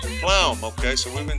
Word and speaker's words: van der Pluijm: Yesin vanderpluijm. Pluijm, okay, so we've been saying it wrong.